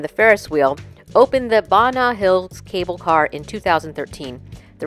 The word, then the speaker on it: Ba Na Hills: Turns out it's pronounced as Banat Hills and not Banat Hills or Banat Hills. It's supposed to sound like bananas because there were a